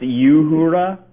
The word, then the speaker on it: Uhura: I think she was It's pronounced Uhura.